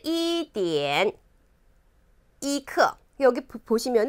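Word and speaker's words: 一刻: 15분 11시 30분 그리고 11:45 읽어봅니다 씰 edna 이크 여기 부포 시면 은 저그 1 병은 표기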